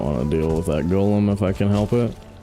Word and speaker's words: golem: I don't want to deal with that golem if I can help it. Dude, did you know did you know it's pronounced Golem and not Gollum like the freaking uh Lord of the Rings character.